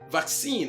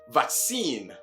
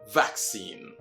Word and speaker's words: vaccine: Note the difference in pronunciation, which is in the stress on the first and last syllables. That is, in the British pronunciation, what phoneticians call the primary stress, which is the stronger stress, is on the first syllable, vac.